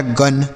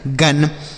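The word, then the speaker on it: gun: जी यू एन को गुन नहीं गन।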